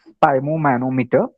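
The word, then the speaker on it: sphygmomanometer: one more is uh spy spom manometer so you just try to read it very carefully and its pronunciation if you're not able to get it that is spy manometer and you should check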